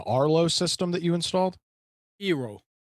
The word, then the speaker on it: Eero: Eero, Eero. double ERO. Are you sure it's not pronounced Euro?